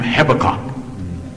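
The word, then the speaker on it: Habakkuk: Rebecca give me that some Scholars pronounce the name hebecock a Becca it's like about to spit a little bit notice the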